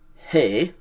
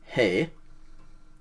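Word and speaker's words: ἡ: nominativ so it's pronounced hey simply the letter eta with a rough breathing mark on it hey like the masculine we're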